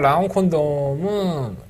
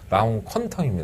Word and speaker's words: 라운 퀀텀: 이번 라운 콘돔은 콘돔은 아닙니다. 퀀텀. 발음이 좀 후져요, 제가. 자꾸 라운 콘돔이라고 자꾸 얘기를 해갖고 사람들이 묻더라고. 라운 퀀텀입니다, 라운 퀀텀.